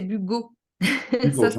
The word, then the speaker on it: Bugault: Alors, je voulais juste préciser que mon nom, c'est Bugo. Hugo, Ça je se prononce m'excuse. Oui, Bugo.